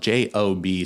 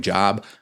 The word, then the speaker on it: Job: with and that is the Book of Job that's spelled j o b so some of you you might have been pronouncing it the Book of Job I definitely did that before Seminary so like